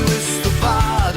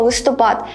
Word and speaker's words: листопад: шалиний листопад лиши тебему як правильно говорити листопад чи листопад якщо ви думаєте що можна вживати подвійний наголос залежно від значення то у мене для вас погані новини тому що це слово має тільки один правильний наголос на третій склад чому виникає плутанина тому